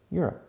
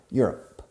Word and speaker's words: Europe: Europe. Acentuando la primera sílaba. Europe.